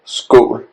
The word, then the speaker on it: skål: It's pronounced and spelled skål, S-K-O-L. O is the letter A with a circle on top.